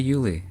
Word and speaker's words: Uli: I go by Julie to my friends if I had any. My case worker says I should be positive. So, uh, when I have some, I guess. My name rhymes with Julie.